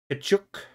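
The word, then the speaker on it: Tkachuk: Kachuk.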